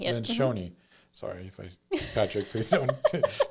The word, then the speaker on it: Lencioni: Lencioni. Lencioni.